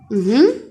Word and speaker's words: aussi: Aussi. Aussi, le cas qu'on a, on a deux S entre deux voyelles. Deux S entre deux voyelles. Donc, le S ici, ça va prononcer Aussi.